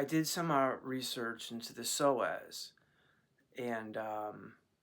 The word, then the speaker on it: psoas: It's called the psoas. It's spelled PSOAS.